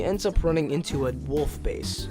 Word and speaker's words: WLF: So she ends up running into a wolf base. Wolf, which is spelled WLF, is the main enemy group in this game.